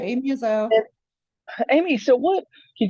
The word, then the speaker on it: Izzo: and I'm here with um with Amy ISO right did I say that right you said it right Amy ISO Amy so what can you tell us like